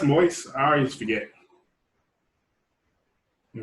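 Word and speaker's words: Moise: approved by uh by is actually pronounced moist i already just forget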